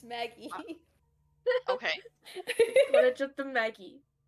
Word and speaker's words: Magi: That's not how you pronounce that word, though. It's Maggie.